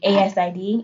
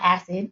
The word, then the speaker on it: ASID: already talking about um asid it's always pronounced asid not acid that's not a thing